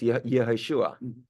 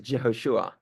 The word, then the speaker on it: Yehoshua: He started talking about Jehoshua, and he lived because in Hebrew it's Yehoshua. So he was mispronouncing the word Joshua as Jehoshua.